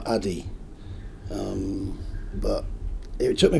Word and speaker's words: Adi: How is it properly pronounced? It's and it's Adi.